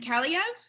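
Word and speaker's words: Kaliyev: And Kaliev, I believe is how you pronounce his name.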